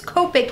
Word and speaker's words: Copic: with Copic markers see I said it right this time cuz I got you know the clarification then it's Copic not copping so I'm pretty excited